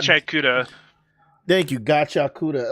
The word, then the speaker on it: Gachiakuta: And that's not Gachiakuta.